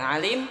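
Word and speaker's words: عالم: Kalau kita panggil orang alim, ya alim harus pakai ain. Alim. Karena alim dalam bahasa Arab dibaca alim artinya pedih.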